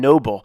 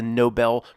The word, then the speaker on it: Nobel: Neanderthal bones and Matt why you keep saying Noble because I choose to mispronounce it I I'm intelligent enough to know it's the Nobel Prize in Philly it's worth